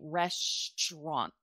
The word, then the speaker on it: restaurant: to to say um it's spelled restant rest rant but we've gotten used to saying Resturant restant almost like it's